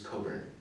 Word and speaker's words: Cockburn: suppose um but there's a singer-songwriter called bruce coburn it's spelled like the port cockburn and he's recorded 43